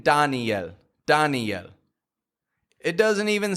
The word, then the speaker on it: Daniel: Where's the strong vowel in there? Dan, right? Dan. And the weak vowel? Yo. Daniel. Even though there's an I-E on the ending, we don't pronounce that I-E. It's real weak. It's just a yo.